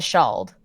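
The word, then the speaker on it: Ceald: Also, the place Kiel is apparently pronounced the Shald.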